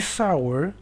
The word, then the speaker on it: sour: Y sour se escribe S-O-U-R, pero se pronuncia sour.